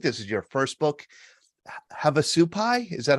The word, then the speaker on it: Havasupai: And here again is your, I think this is your first book, Havasupai. Is that how you pronounce it?